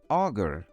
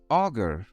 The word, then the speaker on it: augur: fun today we will learn how to properly pronounce and understand the meaning of two interesting words first up we have auger auger auger is a verb that means to predict or